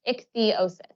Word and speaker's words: ichthyosis: of my skin because I have ichthyosis it's pronounced ichthyosis it's not a sunburn or just dry skin